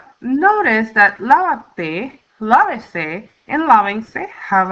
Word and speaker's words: lávate: Now we have lávate. Now we need to comply with the fourth rule of stress that tells us that on the third to the last syllable or the fourth to the last syllable, we always need a written accent mark or tilde.